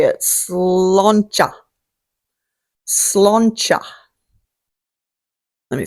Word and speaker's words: sláinte: Sloncha. Sloncha. Let me spell that for you too. Sloncha. So, raise a glass, get your Guinness, sluncha.